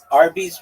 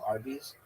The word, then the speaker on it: Arby's: Did you know that Arby's, it's spelled ARBY apostrophe S, but it's really like a short for RB, like roast beef? Did you know this? Do you get it? Like RB is roast beef.